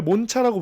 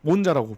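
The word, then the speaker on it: Monza: 그렇게 부르는게 맞는데 원래 몬차라고 부르는게 맞는데 우리나라 또 문화상 그 현지 발음으로 부르는게 편하다고 음. 이제 그대로 써져 있는 Z를 자라고 발음해서 몬자라고 부른다고 합니다.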